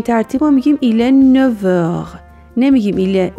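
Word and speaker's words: neuf heures: 5 heures, il est 9 heures. یه نکته، 9 و مشتقات 9 اگر به حروف صدادار یا به اش موئه برسن F se prononce V. به این ترتیب ما میگیم il est 9 heures.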